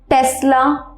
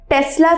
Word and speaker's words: Tesla: তো অনেকে এটার উচ্চারণ করে টেসলা মোটরস, বাট টেসলা ছাড়াও এটার আরেকটা উচ্চারণ হয়, সেটা হচ্ছে টেসলা। তো এস এর উচ্চারণ অনেকে শয়ের মতন করে, অনেকে জয়ের মতন করে। সো ইটস টেসলা অর টেসলা, টেসলা motors or টেসলা motors.